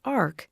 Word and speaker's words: AHRQ: Healthcare Research and quality known by the name of AHRQ and pronounced Ark has been a major